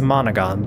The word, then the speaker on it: Monogon: called well I mean it's monogon but if you say it like monogan it sounds like my nogin which is where your headset goes very cute and very